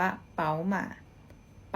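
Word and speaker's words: 宝马: มา BMW นะ คะ ควร จีน อ่าน ว่า เป๋า ม่า ม๋า มา แบรนด์ นี้ นะ คะ แบน กาแฟ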